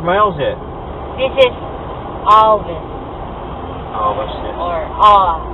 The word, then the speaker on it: Alvis: Some people say Alvis, then it sounds like Elvis, then. Alvis. We say Alvis. Alvis. Alvis. But the correct word to say is Alvis. Alvis. You have to pronounce the L.